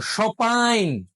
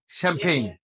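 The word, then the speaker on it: champagne: serious friends না real যারা ফরাসি তারা এই এম উচ্চারণ করবে না নাকি আনবে সম্পাইন সম্পাইন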